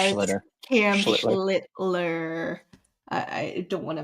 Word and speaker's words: Schlittler: Schlittler. I don't want to mispronounce his name.